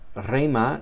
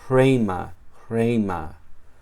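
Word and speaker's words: ῥῆμα: Si una palabra empieza con esta letra ro, lleva siempre un espíritu fuerte, como se ve aquí. Y se pronuncia también con el sonido de la J suave.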